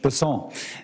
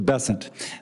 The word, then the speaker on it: Bessent: Cassidy um Mr bassant I'm always going to pronounce your name as if it was in south Louisiana and I'm gonna pronounce it with a French basson as opposed to bessent that's what those folks in South Carolina do um I'll try let